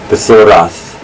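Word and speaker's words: בתורת: Notice also that in ancient Hebrew the T had two pronunciations. One is T and the other is like a th in English, which we write with TH. But in modern Hebrew, under the influence again of European languages, that it's just pronounced T all the time. But in ancient Hebrew they would say Bethorath Yahweh Cheftzo.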